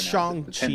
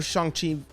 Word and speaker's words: Shang-Chi: I can't pronounce Shang-Chi it. It's Shang-Chi now.